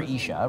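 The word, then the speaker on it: אִישׁ: Yeah, it's ish, which is spelled Aleph Yud Shin.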